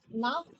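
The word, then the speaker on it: Nacht: நாக் நைட் actually CH வந்தா கா மாதிரி ப்ரொனவுன்ஸ் பண்ணும்.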